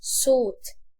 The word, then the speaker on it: thought: يفكر او يعتقد think، الماضي بتاعها thought. GH مش بتنطق.